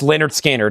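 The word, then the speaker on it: Lynyrd Skynyrd: Pronounced Leonard Skannard.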